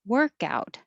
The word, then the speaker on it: workout: Nouns usually have stress on the first syllable, so it would be workout. And if it's a verb, work out.